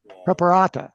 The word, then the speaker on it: Preparata: earlier prepar propara preparata is the proper pronunciation somebody knows him told